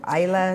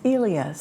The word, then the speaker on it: Elias: How do you pronounce his name? Is it Ila Sarov? It's Elias.